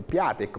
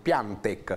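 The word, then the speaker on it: Piątek: della gazzetta dello sport platek piante si pronuncerebbe sembrerebbe perché è un bomber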